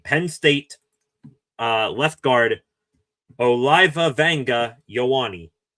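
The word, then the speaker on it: Olaivavega Ioane: I actually got the phonetic pronunciation of his name. Penn State uh left guard Oliva Wangga Yawani. Oliva Wangga Yawani.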